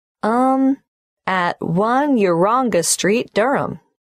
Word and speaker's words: Durham: at one uronga Street Durham how do you spell Durham d-u-r-h-a-m of course I should know that but it's just one of those names that sounds quite different from the way you spell it it is confusing I've